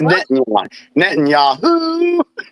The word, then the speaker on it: Netanyahu: Is that how you pronounce his name? Just call him BB. BB. Okay. Yes. Netanyahu.